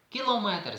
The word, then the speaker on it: кілометр: черговий Отже правильна разом кілометр Звісно ж ніякий не кілометр тому що в словах міліметр сантиметр кілометр ключовою частиною є слово метр і наголос Ми чуємо де тобто правильно кілометр не кілометр а км фенолом чи